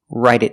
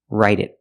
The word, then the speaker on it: write it: Pronunciation, write it down. The T in write changes to a fast D. Write it, write it.